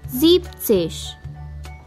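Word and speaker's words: siebzig: word zeban is removed while saying seventy therefore zeptsesh aksesh once again aksesh noises once again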